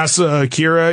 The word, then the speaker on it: Asa Akira: You know Asa Akira, I think you say her name? Yeah, Asa Akira.